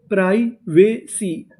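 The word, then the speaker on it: privacy: पी आर आई प्राई वी ए वे सी वाई। इसे पढ़ेंगे सी। पूरी मीनिंग प्राइवेसी।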